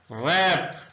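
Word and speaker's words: wrap: कर वरी परेशान होना रैप लपेटना डब्ल्यू आर ए पी में डब्ल्यू साइलेंट है साइलेंट लेटर्स की वीडियोस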